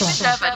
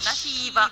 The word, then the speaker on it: Sheva: Her name is Sheva, not Shiva or Shiva. However you said it. You said it wrong.